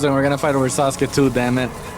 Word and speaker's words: Sasuke: It's Sas. It's Sasuk. Oh that was a ton of damage. Sasuki Sakura the beautiful. Have you Have you ever seen the German opening for uh the German opening of uh Nar? That shit's so bad. Yeah, I'm I'm from my ninja clan. Ninja clan. Here I stand. Sasuk is really cool. Sakura the beautiful. I think they say Sasuk actually.